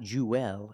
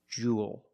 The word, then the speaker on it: jewel: same pronunciation this word Jewel it's pronounced the same as cool and pool you have the long ooh sound plus the dark L there's no extra vow it's not jeel it's Jewel like pool and cool